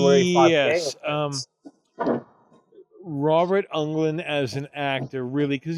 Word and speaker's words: Englund: I always thought it was Robert England, because that's kind of how it's spelled. Is it Englund? It's Englund, yeah.